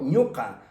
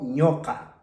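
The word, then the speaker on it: ñuqa: No digo en ningún momento ñuca, digo ñoca, ñoca.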